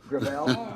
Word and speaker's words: Gravel: With all due respect, let me correct, I pronounce it within my family, Gravel. Gravel? It's a French name.